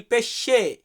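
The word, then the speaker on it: pesce: গাড়ির ক্ষেত্রে আমরা বলি লাউতো বাট সঠিক গাড়ির উচ্চারণটা হয় আউতো যাই হোক এরপর আছে কি মাছ মাছকে আমরা ইতালিতে বলি পেশে ইল পেশে পেশে মানে মাছ আমরা যে মাছ খাই মাছকে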